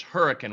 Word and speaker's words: Hurricane: It looks like Hurricane, but how is it pronounced? Well, it's Hurricane, West Virginia.